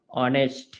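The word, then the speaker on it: honest: না এন বসাই কেন এই যে এইচটা এটা সাইলেন্ট থাকে এর উচ্চারণ কি রকম হয় অনেস্ট ঠিক একই রকমভাবে আওয়ার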